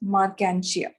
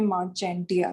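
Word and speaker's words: Marchantia: एंड इस example का नाम है जो इसमें, दिस इज मार्केंशिया। कई लोग इसको प्रोनाउंस करते हैं मार्चेंटिया, तो इट इज नॉट मार्चेंटिया, इट इज मार्केंशिया।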